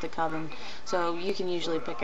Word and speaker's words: coven: power um a coven I've heard people call it koven I've always pronounced it coven everybody that I've ever met has pronounced it coven so you can usually